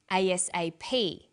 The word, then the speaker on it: ASAP: Notice that each letter in the abbreviation is pronounced separately, but the last letter is pronounced more strongly because it carries the primary stress. So we say USA, ASAP, ABC, and TV.